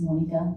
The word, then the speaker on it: Monica: It's Monica. I know, it's just the way it's spelled is just gonna throw you. I said Ms. I said Monica. Monica. Yes. Long O.